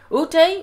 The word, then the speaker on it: Ute: How do you pronounce UTE or Ute?